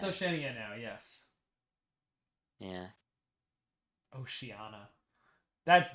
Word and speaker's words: Oceania: what was the point I said it's not it's not oceanana it's Oceania yeah okay Millie agrees